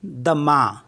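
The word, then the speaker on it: demain: है Tren D ई एम ए आई एन दमा दमा मीस होता है टुमारो एंड सी ओ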